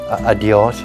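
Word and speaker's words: adiós: pues means uh until adios means farewell that's the key until later and in spanish would be pronounced basically like this adios now everybody in guam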